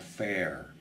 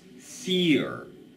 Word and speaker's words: fear: No, it is not fair. It's fear.